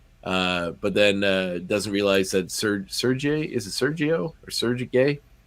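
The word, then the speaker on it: Sergei: Sergey or Sergey? Sergey, isn't how you pronounce it? Yeah, Sergey. Yeah, Sergey. Sergey, the Russian way.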